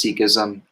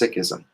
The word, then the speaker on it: Sikhism: I knew it as Sikhism, then I met Sikhs, and it is pronounced Sikhism. And if you can, try to aspirate the H.